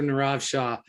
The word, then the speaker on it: Nirav Shah: this small state of maine um doctor dr nirav shah did i pronounce that right you did rob and it's